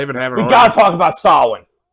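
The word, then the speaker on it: Samhain: Yeah, it's spelled Sam Hayne, but it's pronounced Sin.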